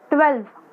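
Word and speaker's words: twelfth: tubewell tubewell नहीं बोलना है से क्या बनाएं ट्वेल्थ अन्य स्कूल बोल कर देखना है एक बार ट्वेल्थ स्पेलिंग क्या है 30 डब्ल्यू ई द 12th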